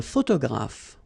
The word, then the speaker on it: photographe: So here, PH, and here, PH, pronounce it like F, f, f, f.